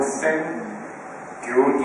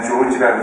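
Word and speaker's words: Szent-Györgyi: 이 알버트, 아까 그 발음하시는 걸 들어보니까 알버트 센 교디 이렇게 말씀하시는 것 같아요. 저희 우리는 그냥 조지라고 생각을 했는데 비타민 C를 발견한 분이죠.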